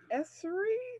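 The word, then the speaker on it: Esri: explain that to us a little bit um pronounced esserie did i say it right you sure did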